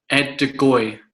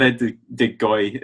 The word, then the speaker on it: Ed de Goey: I'm going to go for in goals, Ed de Goey. It's in the Rudd Gullet sort of vibe with that G.